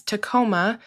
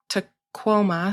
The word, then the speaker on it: Tacoma: The name of the mountain itself is La Chute, is Tacoma, and it's actually pronounced Tacoma. So if you see Tacoma, just know that the correct pronunciation is Tacoma, and it's the same as the nearby city.